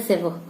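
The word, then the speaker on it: sever: हैं सेव actual में spelling तो इसकी है एस ई वी ई आर लेकिन हम इसको जो है इसका प्रोनंसिएशन जो है प्रोनंसिएशन इसका होता है सेव ह आता है लास्ट में सेव ठीक है तो इसका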